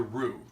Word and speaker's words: roux: So the basis of any gumbo is the roux. Now, roux is a French word, and it's spelled R-O-U-X.